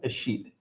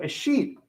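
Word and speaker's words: escheat: Okay, there's a concept called a sheet. It's spelled E-S-C-H-E-A-T, a sheet.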